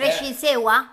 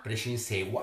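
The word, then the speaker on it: prescinsêua: Allora, la prescinzea, che chi non è genovese, ma anche tanti genovesi non sanno neanche come si pronunci, è Prescinsewa? Prescinsewa.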